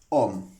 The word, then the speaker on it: ohm: la letra griega omega, la cual se pronuncia como el postulador de esta ley, que es ohm.